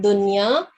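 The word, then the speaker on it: دنيا: right mashallah well done so the word Dunya is one of those words in which known should be pronounced clearly okay your recitation is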